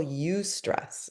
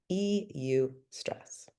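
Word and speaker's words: eustress: There is what we call ustress. It's spelled eu. Eu stress. Ustress.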